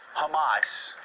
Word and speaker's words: Hamas: Strip car Jeffrey um how can you be an adult in America who's ever read newspapers or ever watched TV news and pronounce Hamas uh like the food humus it really is staggering